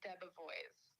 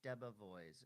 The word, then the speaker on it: DeBevoise: So it's I guess the American pronunciation of it would be DeBevoise. DeBevoise.